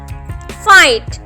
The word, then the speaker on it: fight: अब देखिए GH से पहले भी वर्ड है एंड GH के बाद भी वर्ड है, तो GH हम यहाँ पर साइलेंट हो गया, तो हम इसे क्या पढ़ेंगे, फाइट।